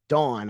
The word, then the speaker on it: Davvn: that you did with Dawn, I think is how the artist pronounces the name, spelled Yes. Davvn.